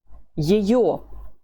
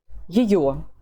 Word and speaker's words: ее: How do you say her? Ее. Ее.